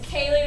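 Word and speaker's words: céilí: Like Kaye would be spelled which is the big Irish dance party. is called is spelled C E I L I.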